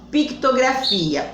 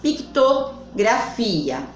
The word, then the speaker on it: pictografia: Pictografia. O C, ele é mudo, tá? Pictografia.